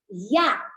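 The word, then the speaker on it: יה: Now, Yud and Hey together pronounced Ya.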